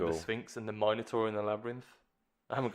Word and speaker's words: Minotaur: I just want to say Minotaur, 100% the correct way to say it. Minotaur.